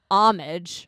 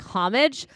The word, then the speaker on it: homage: I have never said Okay, number one, it's homage or like homage.